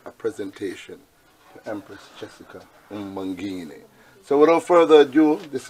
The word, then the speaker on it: Mbangeni: I'm yet to pronounce the last name, but let's see if it's Mbangeni. Mbangeni. Mbangeni.